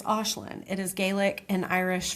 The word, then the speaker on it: Aisling: Aislinn is spelled A I S L I N G. People normally say Aisling, but it's Aislinn.